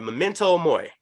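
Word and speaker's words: Memento Mori: album on the german charts mo all right memento moy did i say it right yes how the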